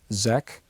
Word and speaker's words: Szekely: His name was Edmond Bordeaux-Szekely, or some people pronounce him Zek.